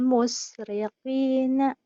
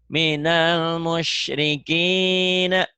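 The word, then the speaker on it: مشركين: Kemudian Minal musriqina. minal shinnya kurang meringis. Minal musyrikina.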